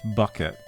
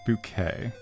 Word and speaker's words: Bucket: So P says, "There's an old British TV show called Keeping Up Appearances about a woman called High Bucket who corrects everyone to pronounce it bouquet."